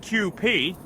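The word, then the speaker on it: Kewpie: My sister got this stuff called QP, pronounced QP, and it's supposed to be Japanese mayonnaise.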